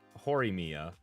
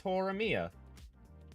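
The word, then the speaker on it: Horimiya: on hang on mhm horia or is it hor Mia what wait what do you mean is it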